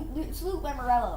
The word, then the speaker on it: Lamoriello: Which brings me one of the most impressive things about Lou Lamoriello. It's Lou Lamoriello, right, Daddy?